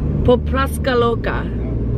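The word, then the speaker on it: Pupnatska Luka: Popraska Loka. Is that correct? Yes.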